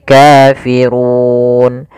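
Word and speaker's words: كافرون: Kafirun padafu di sini ro tebal yaitu ro tafhim rnya dibaca dengan tebal Kemudian pada lafal Run Itu ada bacaan madukun Mad yang terjadi disebabkan karena adanya sukun Arid Apa itu sukun Arid sukun yang muncul disebabkan karena waqaf awalnya kafiruna karena waqaf nunnya kita matikan menjadi Kafirun kemudian panjang untuk ru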